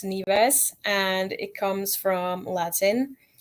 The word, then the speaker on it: Nives: thought first saw it I thought it was knives so what is the term the meaning of your your wrestling name so it's actually pronounced neas and it comes from Latin and it means